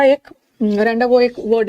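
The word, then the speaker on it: rendezvous: Criminal, रैंडावो, ये वाला ना रैंडावोस मत पढ़ना, इसका एस साइलेंट है।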